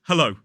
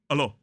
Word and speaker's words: hello: it we don't need to say hello it's hello hello hello but one mistake I often hear students making is pronouncing that o dip thong is more like